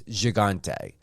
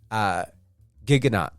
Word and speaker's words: Gigante: I hope you guys heard my interview with actor Cam Gigante, or Cam Gigante. Yeah, everyone has a different pronunciation for it. The French pronunciation is Gigante. When I spoke to Cam, it's Gigante.